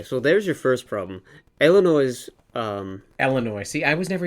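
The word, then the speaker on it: Eilonwy: No, it's more of an A. Illinois. Illinois. Okay. AI is a diphthong that's pronounced like an A, or A, and then W is like an O in the Welsh language.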